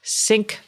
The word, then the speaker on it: Cync: C by GE anymore it is now syn by GE and syn is spelled with a c and I hate it